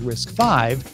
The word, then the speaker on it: RISC-V: want to use the arm instruction set whereas risk five is open you don't have to pay anybody